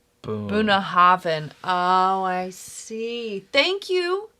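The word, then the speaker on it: Bunnahabhain: DH is a hard TH. BH is the V. Boom. Boonhaven.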